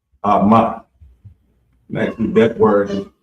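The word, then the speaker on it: אמא: And it's Ama. Ama.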